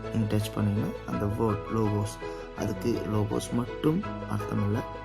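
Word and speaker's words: Logos: அதை வாசிக்கும் முறை பார்த்தீங்கன்னா லோகோஸ் எல் ஓ ஜி ஓ எஸ் லோகோஸ் என்ற இந்த வார்த்தை கொடுத்திருக்காங்க பாருங்க இப்போ லோகோஸ் அந்த கிரேக்க கிரேக்கத்தின் உச்சரிப்பு லோகோஸ் அப்படின்ற அந்த வார்த்தை அந்த வார்த்தையோட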